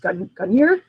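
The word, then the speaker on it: Gungnir: And I believe it's pronounced Gunyer.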